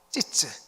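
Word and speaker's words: ציץ: 이 꽃이 히브리어로 찌츠라고 이야기합니다. 발음이 요상하죠? 찌츠.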